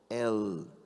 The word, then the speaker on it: El: O alf é uma letra como se fosse muda, mas tem um um pontozinho embaixo e a pronúncia certa é L.